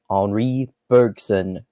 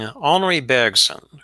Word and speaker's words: Henri Bergson: We're going to talk about Deleuze's thoughts on, I'm going to try to say his name in the French way here, Henri Bergson, who it looks like